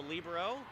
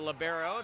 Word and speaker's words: libero: That person's called a libero or a libero, depending on what type of pronunciation you like to go with.